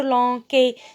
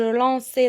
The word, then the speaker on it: lançais: Et donc, le C devant A, ça se prononce K. Et donc, je vais dire je lanquais. Je dois dire je lançais.